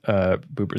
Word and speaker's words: Buber: Buber, that's how you pronounce his name.